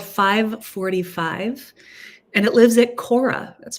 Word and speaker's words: Khora: This is called 545, and it lives at Cora. That's spelled Khora.